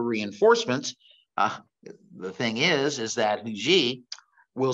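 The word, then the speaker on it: Huger: And so as Hugee, it depends on, it's not Hugger, it's Hugee, but his name is spelled Hugger.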